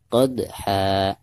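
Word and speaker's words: قدحا: Qadha, pertama dalnya ya. Dal ini adalah salah satu daripada huruf qalqalah. Dan huruf qalqalah di sini itu posisinya ada di tengah-tengah bacaan, berarti dihukumi qalqalah sugro. Dibacanya tetap dipantulkan namun dengan suara pantulan yang tipis ya. Qad, seperti itu.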